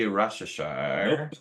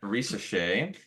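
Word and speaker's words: Risacher: So number 1 pick, Zachary Rashashar. Nope. I said it right. Risachet. That's what I said. Okay. Risachet.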